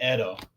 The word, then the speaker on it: Edo: your name uh it's you can just say Edo like Edo Edo yeah where are you tuning